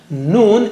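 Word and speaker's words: نون: How do you say noon? Touch the tip of the tongue to the upper gums a little above the roots of the teeth, as you see in the picture.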